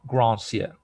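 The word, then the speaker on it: Grandsir: internal purposes grassier grant grant sia grant right here like the r is silent it's just don't try to roll it don't worry about it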